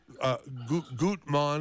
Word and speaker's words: Gutmann: By the way, Gutmann, am I pronouncing your no, you can say Gutman.